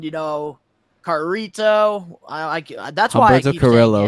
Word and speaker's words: Carrillo: Name one more time so I could try to pronounce it right. Humberto Carrillo.